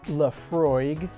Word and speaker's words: Laphroaig: it's h tells you it's pronounced Lefroy uh Scotch wh whiskey